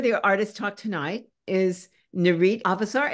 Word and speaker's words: Nurit Avesar: artist talk tonight is narit avasar is that the right way to say your name exactly very very right and she's a terrific